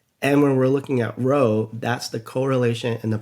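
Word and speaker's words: rho: And that would be uh so it's spelled R H O. So, row. And just so you can remember later on, it's pronounced row.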